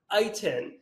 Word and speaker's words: Eitan: Now, a fun thing about my name is it is pronounced and spelled nothing alike. You know, when I meet people like, is it Eitan, Eitan, Ethan? Which one? Ethan, yes, Ethan. And it's pronounced Eitan.